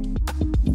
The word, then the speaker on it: Agerenesh: Executive Producers from Starglow Media are Jed Baker and Agerenesh A. Palmer (pronouncer: Ah-guh-ray-nush).